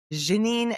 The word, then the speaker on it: Ginine: My name is Janine. My mom wanted to be different. It's just Janine, but she wanted to spell it the French way and we are not from France, but I love it.